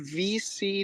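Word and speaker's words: VeSea: chain um apes um it's called v c dot io and that's spelled out like v-e-s-e-a it's like a play on open c so v-e-s-e-a dot io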